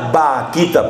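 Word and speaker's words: Bakhita: Santa de nuestro tiempo se escribe con la letra b a K h i t a o sea suena vaquita pero con b grande por eso lo de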